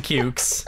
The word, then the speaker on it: Cukes: gonna approach is it is it jackson cukes or cute yeah jackson cukes it's pronounced yeah like short for cucumber but like pronounced like puke no all right meg's